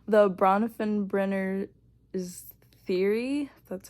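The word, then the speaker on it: Bronfenbrenner: if I can pronounce his name right the bronfen brener theory that's how you pronounce his name um is and it kind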